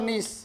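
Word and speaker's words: gneiss: इसका निर्माण ग्रेनाइट और नीस, नीस में जी साइलेंट होता है, जी लिखते पर उसका उच्चारण हम नहीं करते।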